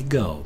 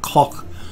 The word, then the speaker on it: Gogh: It's not pronounced in the Americanized Go version. It's more like Koch or something like that.